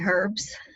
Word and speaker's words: herbs: I always let my herbs, I'm in the UK, so we pronounce the H.